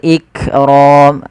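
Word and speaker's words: الْإِكْرَامِ: Wal ikram lafal kaf ik ik tapi bukan ikram. Jangan sampai memantulkan huruf kaf. Kemudian pada lafal roya ditebalkan yaitu ra tafkhim.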